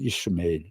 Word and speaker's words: Ishmael: 영어식 발음은 이슈마엘 이렇게 되고 우리 성경은 이스마엘 이렇게 되는데, 이스마엘이 인제 아브라함의 장남이었죠.